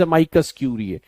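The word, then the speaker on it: amicus curiae: युक्सोर और pronunciation of एमाइकस क्यूरिए, ठीक है, एमाइकस क्यूरिए, राइट। सो ये ध्यान रखना, the right word is एमाइकस क्यूरिए।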